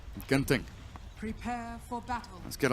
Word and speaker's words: Genting: If you're wondering, in Singapore they pronounce it Genting, which is bad and wrong. In Malaysia, Genting.